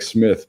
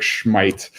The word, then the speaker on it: Smith: And it was Buchalfa who slotted in for Irvine, and actually Schmeidt, the guy you could call Eric Smith, but he's Swedish. It's actually pronounced Eric Schmeidt.